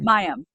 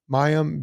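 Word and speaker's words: Mayim: her first name how do you saying that mayam mayam biic yeah um if if a doctor friend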